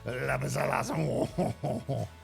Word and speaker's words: lapis lazuli: And now, Octoplus, how do you say lapis lazuli? Because I say it the correct way, which is lapis lazuli. Right? That's how it's supposed to be, I think.